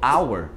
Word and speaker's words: hour: Algumas poucas palavras em inglês também, quando tem um H no início da palavra, esse H é mudo. Porque no português todo H é mudo, tipo hotel. Só que no inglês o hotel fica hotel. Então repara que o H já tem um som que raspa a garganta. Mas algumas palavras não. Por exemplo, hour, ou então honest, tá? Hora e honesto, isso aí também, o H ele é mudo, mas é bem raro,